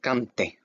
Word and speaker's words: canté: Remember, every time you see an accent, that little slash over the vowels, you pronounce that vowel harder than the other letters, okay? You emphasize it.